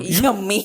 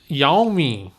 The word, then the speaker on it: Yami: Yummy Gautam. Is it Yummy? I don't know how to say her name. Yummy, Yummy. Yami.